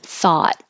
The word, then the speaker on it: thought: And you don't hear the T, so that little mark after the T I'm using to represent hold your tongue in the T position, thought, but don't release the T like thought. Just hold it. Thought. So if it's at the end of a phrase or a sentence or before a pause, you won't hear the T.